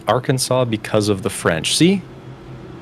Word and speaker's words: Arkansas: Fort Smith, AR Arkansas is how it's pronounced, but it looks like R.